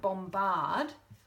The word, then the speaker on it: bombard: B is silent but let's use the same base word bomb and use it in the word bombard which is when you fire questions of someone which is used from the base word bomb but suddenly we sound out the B so suddenly it's bomba